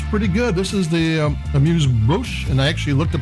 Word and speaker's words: Amuse Bouche: This is the Amuse Bouche, and I actually looked up how to pronounce it from Trader Joe's at $11.99.